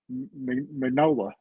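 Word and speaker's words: Mignola: And Tyler's the one that taught me how to say menola. I have to even Yeah, Mola. Yeah, like the G, I guess, is silence.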